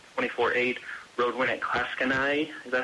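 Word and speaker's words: Clatskanie: to 3-1 with a 24-8 road win at Klatskanai.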